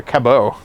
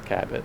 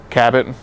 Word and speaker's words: Cabot: to do in C how do you say cabat or Cabo no it's cabbit cabit cabit Chez we we're we